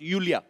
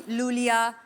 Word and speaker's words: Iulia: pronounce यूलिया. Julia. And the spellings are IULIA. So I Thank क्यों God you मतलब? know. I mean why I? Thank God. Everyone is calling me Lulia, Lolia.